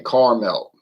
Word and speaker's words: caramel: end when people say caramel. Caramel, that's a different word. Okay, that's like a town. Cara, that's 2 syllables. Cara, and then Mel, like Mel's Diner. Cara, Mel. See, it's not hard to do.